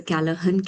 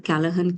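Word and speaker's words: Callaghan: is called as a Kalahan campus. The G is silent here. So it's called the Kalahan campus and it is spread across more than 300 acres of land.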